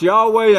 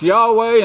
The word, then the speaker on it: Yahweh: It's pronounced Yahweh in English. It's pronounced Yahweh in Hebrew.